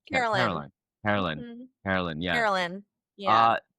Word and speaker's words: Carolyn: How do you say her name? Caroline or Carolyn? Carolyn.